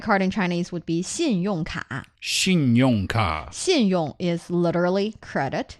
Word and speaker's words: 信用卡: Credit card in Chinese would be 信用卡. 信用卡. 信用 is literally credit, and card is a card, 卡.信用卡. Are you using two syllables there? 信用卡啊? No, 卡 is one syllable.